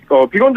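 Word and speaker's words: Biegun: 예, 한국을 자주 오가는 비건 대표가 푹 빠질만한 그런 맛이죠. 특히 이제 우리나라에서 그 비건 대표의 이름의 발음 이건 이제 비건 채식주의자를 뜻하는 비건이랑 이제 발음이 같기 때문에 네네.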